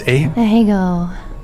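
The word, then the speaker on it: Ahegao: What is the, how's it pronounced? Ahego.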